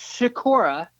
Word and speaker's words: Schikora: they can find you okay am i ke pronounced Sakura SCH okay and the easy thing